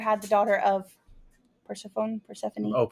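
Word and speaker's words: Persephone: Praphanie. Oh, Pphanie. Thank you. I always want to call her Persafhone because that's how it's spelled.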